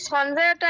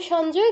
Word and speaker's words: সঞ্জয়: বলেছে সঞ্জয় সঞ্জয় বলেছে বাংলায় সঞ্জয় কিন্তু সংস্কৃতে সঞ্জয় বলা যাবে না কি বলতে হবে সঞ্জয় সঞ্জয় উবাচা আচ্ছা এবার